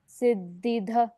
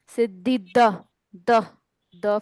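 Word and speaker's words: सिद्धिदः: घ पढ़ दिया ना सिद्धि द फॉर डमरू यस द फॉर दिशा दिशा का द सिद्धि द ओ वो तो ड है हम दिशा का द दिशा दान का द सिद्धि द सिद्धि साधन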